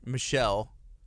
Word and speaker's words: Michel: the michelle family who it's the french pronunciation it's a very common french surname cool and so yeah